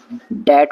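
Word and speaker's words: debt: दैट मतलब कर्जा। और इसमें बी साइलेंट है।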